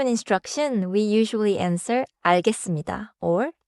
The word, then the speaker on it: 알겠습니다: First a teacher gives a deadline 금요일까지 내세요.네 알겠습니다. in that example.네 알겠습니다. sounds respectful and clear. short answer good tone. Pronounciation note. 알겠습니다는 자연스럽게 알겠습니다처럼 들려요. 하지만 쓸 때는 알겠습니다로 써요.